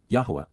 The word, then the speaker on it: Yahowah: Yahwa, the proper pronunciation of the name of Eloha, God as directed in his Torah, teaching regarding his higher existence in our shalom restoration.